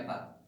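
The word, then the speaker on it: η: Viskositas itu ini mah simbolnya, viskositas itu gini, eta ya, dibacanya eta.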